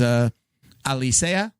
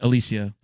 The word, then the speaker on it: Alicea: My sister is I'll say her last name is Alicea, like Puerto Rican last name, and they Americanize it. The kids say Alicia.